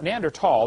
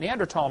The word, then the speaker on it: Neanderthal: know the neander th neander tall the H is silent neander tall man is named after